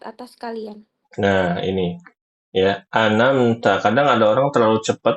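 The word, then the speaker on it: أنعمت: Tuhan ya begitu ibu-ibu Jadi kesalahannya pada kata an'amta Jangan dibaca anamta atau anamtu ini fatal sekali dan juga jangan dibaca anamta anamta ainnya diubah jadi Hamzah yang benar anamta seperti itu ya ibu-ibu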